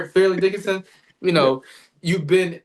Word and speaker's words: Fairleigh Dickinson: Did I say it right? Farley Dickinson? Fairly. I can never say it. Fairleigh Dickinson.